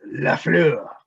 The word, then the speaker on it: Lafleur: You're saying it wrong. It's Lafleur.